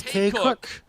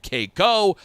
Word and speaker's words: Kakuk: gets it right chris it's k-cook k-cook k-cook is the proper pronunciation of my name i get keiko i get kukuk i get um what